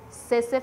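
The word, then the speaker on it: tsetse: can you spell it cesar fly it has a silent t it is t s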